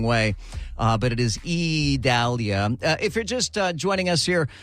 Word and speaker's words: Idalia: an eye storm but it is uh pronounced E Dahlia and I keep having